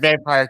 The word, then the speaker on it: VAMPR: you know what's funny? I don't really know, but that sounds about right. Vamper, yeah. Yeah, yeah. For anybody who is good with good with acronym, it's spelled VAMPR. Is it? I don't know. I always like the word vampire because it sounds you know kind of weird and everything. But vampire is a good pronunciation too.